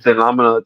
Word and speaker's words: Damilola: Damal, okay, Damilola.